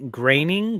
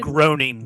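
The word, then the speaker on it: Groening: yo I think macaroni graining graining is how you say it groaning groaning groaning him and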